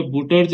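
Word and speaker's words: Wurtz: जैसे लिखना चाहो, ये वुटर्ज अभिक्रिया, है ना, ऊर्ज ऊर्ज भी लिख सकते हैं। तो ये अलग अलग है, कहीं पे वुटर्ज अभिक्रिया भी लिखा होगा, वुटर्ज अभिक्रिया, ठीक है ना। ये अलग अलग नामों से प्रोनाउंसिएशन के कारण है, अंग्रेजी में हम ये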